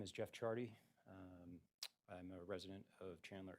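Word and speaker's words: Ciardi: Rapham, state calls Jeff Chardy, and that is pronounced spelled, C-I-A-R-D-I.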